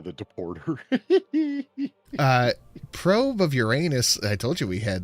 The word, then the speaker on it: Uranus: This is why Far and I who love our astronomy documentaries both pronounce it Uranus and you can cut them jokes right the off.